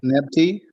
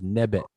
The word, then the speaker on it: nebet: Nepti. Close. Say it again. Nepti. Okay, you're close, but it's nebet.